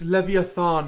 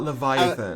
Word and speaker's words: Leviathan: set it's it's absent it's Leviathan not Leviathan I was gonna say